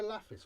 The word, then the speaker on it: Laphis: Beneath Laphis's did I say Laphis or Lapis? I can't remember. How did I pronounce this? What do I need? 2 minutes. So this is why you make notes. 3 minutes 22. Chapter 1. The Fires of Laphis. I said it right.